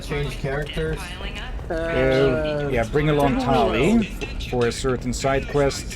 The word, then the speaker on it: Tali: Not Talia this time. What did you say? Not Talia. Like you mispronounced her name so many times as Talia.